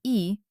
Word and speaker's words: И: To pronounce the perfect Russian sound E, you need to make a wide, sincere Hollywood smile. Stretch your lips so that your teeth are visible, and the tip of your tongue at the same